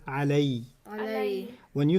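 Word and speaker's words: عَلَيْ: When you attach it to the pronoun, it doesn't pronounce ala, it pronounces alay.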